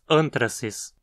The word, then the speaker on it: anthracis: Uma espécie proximamente relacionada a essa é Bacillus anthracis, que causa a doença conhecida como antraz ou carbúnculo. Aqui a penúltima sílaba, tra, não tem requisitos para levar o acento, por isso dizemos anthracis.